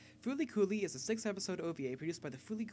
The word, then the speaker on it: FLCL: adaptation as such today we dive into flcl pronounced as foly fly kulie is a sixth episode OVA produced by the